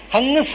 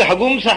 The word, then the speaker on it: ಹಂಸ: ಅದರಿಂದ ಹಂಸ ಅಂತ ಇದ್ದದನ್ನ ವೇದದಲ್ಲಿ ಯಜುರ್ವೇದಿಗಳು ಹೇಳುವಾಗ ಹಂಸ ಅಂತ ಹೇಳಬಾರದು, ಹಂಸ ಅಂತ ಓದಬೇಕು ಇಷ್ಟೇ. ಅದನ್ನು ಈಗ ಹಗುಂಸ ಅಂತ ಓದ್ತಾರೆ, ಅದು ಯಾವ ದೇವರಿಗೆ ಪ್ರೀತಿಯೋ ನನಗೆ ಗೊತ್ತಿಲ್ಲ. ಅದನ್ನು ಹಾಗೆ ಹೇಳ್ತಾರೆ, ಏನು ಮಾಡೋದು, ಹಗುಂಸ ಅಂತ ಹೇಳ್ತಾರೆ.